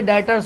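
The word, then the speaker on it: debtors: तो जिस बंदों से हमें पैसे लेने होते हैं वो हमारे डेटर्स होते हैं। क्या होते हैं? डेटर्स। लिखा डेप्टर्स कहा जाता है बी साइलेंट रहता है।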